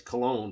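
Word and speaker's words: Köln: Now, depending on what country you're from, some of you pronounce that as Cologne, but for the purposes of this video, I'm going to pronounce it as the Cone Concert.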